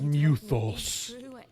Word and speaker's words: Mythos: okay but they're no they call Clive Mythos but they pronounce as muthos did what you said